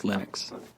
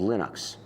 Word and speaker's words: Linux: And I really don't care how people pronounce my name. But Linux is always Linux.